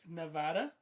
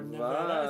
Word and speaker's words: Nevada: Some old school settler shit like Nevada, or Nevada, as people would say it. Some Espanol stuff going in there. I see. Mountains and stuff. Nevada.